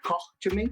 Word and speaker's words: Koch Chemie: Pero nada, aquí tenemos a nuestro amigo Diego de Koch Chemie, así es como se pronuncia, ¿no? Koch Chemie.